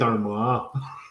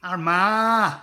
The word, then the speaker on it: Armagh: You have to say it properly, but not. It's South Armagh. Armagh, yeah.